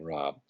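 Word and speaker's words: Raab: I'm standing there with Dr Fred Rob spelled r aab his pronounces his last name Rob who's the CEO or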